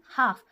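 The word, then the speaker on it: half: है वो साइलेंट है हाफ हाफ का भी एल लेटर साइलेंट है नी का के लेटर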